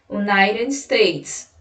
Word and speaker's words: United States: Perceba que no United, que o T ele vai ter uma pronúncia de R. United States, certo? E isso acontece porque no inglês, em alguns momentos, o T ele ganha essa pronunciazinha, tá certo?